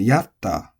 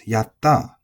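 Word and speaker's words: やった: And yaru is also flat, so you might be mispronouncing it if you're trying to celebrate and you say yatta, but it's not, it's yatta, yatta.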